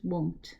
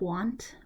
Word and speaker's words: won't: So again, will not, it's better to use won't, okay, not want, won't. So get the pronunciation of that correct, okay.